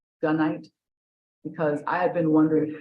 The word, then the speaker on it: gunite: I have to tell you that I kind of got stuck when you said gunite, because I have been wondering how to pronounce that.